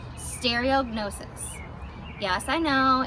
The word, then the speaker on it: stereognosis: So, stereognosis. This is how we spell it.